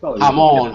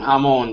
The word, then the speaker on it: Hamon: never pronounce it right hamon hamon like ham from Spanish but the and then